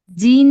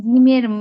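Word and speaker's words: جيم: জি জি জিন না কিন্তু আপু এইযে কোন আপু যেন জিন পড়ছেন জিন না জিন আপু জিম হবে জিমের মানে মর উচ্চারণ হয়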